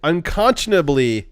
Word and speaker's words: unconscionably: price that is quote unconscionably oh consciously yeah that word does not it it doesn't read phonetically but it is spelled correctly it's the c the c is what really throws it out yeah yeah it is